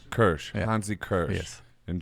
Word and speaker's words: Kürsch: And what's your how do you say your last name? Kürsch. Kürsch.